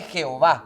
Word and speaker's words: Jehová: Entonces, la tradición le fue asignando una pronunciación, agregando las vocales E y A, hasta que se escuche Jehová.